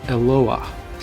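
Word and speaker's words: אֱלוֹהַּ: In the singular, it's pronounced Eloah.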